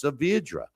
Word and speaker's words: Saavedra: And I was saying it I was kind of saying it right and I thought I was saying it wrong, but it's Saavedra.